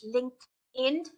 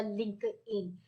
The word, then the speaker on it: LinkedIn: for those who do not know the correct pronunciation of that particular social media is LinkedIn it's not linked it it has never been a link in it's linked in all right so if you